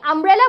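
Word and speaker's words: umbrella: করে হচ্ছে যে কিনা আমি আমব্রেলা বলছি আ উচ্চারণ হচ্ছে যখনই ইউনিয়ন বলছি ইউ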